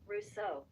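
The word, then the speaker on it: Rousseau: r Oro R this is R let's see pronounce yeah rouso R rouso jaquis rouso they read voler rouso Russo they sent their linen to the colonies to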